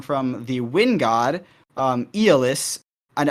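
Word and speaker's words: Aeolus: the wind god um Eis and I think the more popular pronunciation nowadays is aolis uh so that character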